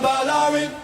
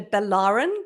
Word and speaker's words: Balarin: You know, this in Australia they call it Balarin because they emphasize the second syllable for some strange reason. But if you think of Ballerina, which of course I have been in the past, then it's easy to get it right.